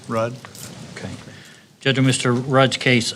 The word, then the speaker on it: Ruud: your last name r-u-u-d how you pronounce it Road Rudd okay judgment Mr Raj